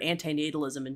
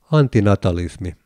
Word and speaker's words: antinatalismi: I collect recordings of people saying the word antinatalism in different languages. How do you properly pronounce the Finnish spelling of the term? Antinatalismi. With a clear but not exaggerated emphasis on the first syllable.